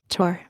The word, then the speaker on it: Thor: She pronounced it Tor.